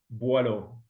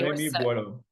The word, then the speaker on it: Boillot: Hey Buo. Am I saying it right? Correct me. Please pronounce your name. Buo. Okay. Buo.